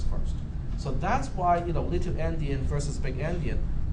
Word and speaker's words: endian: out to be big endian. It transmits the most significant byte first and not the least significant byte first. Okay. All right. How do you spell that? Andian? Endian as an end, E-N-D, endian.